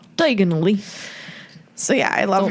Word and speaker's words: Diagon Alley: Diagon Alley. Diagonally. Diagonally.